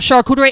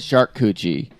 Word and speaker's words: charcuterie: When people sell trays of charcuterie, it is literally just dude.